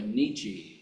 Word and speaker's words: Nietzsche: By the way, Nietzsche, if you want to impress people, you know, Nietzsche. You were wondering how to pronounce that.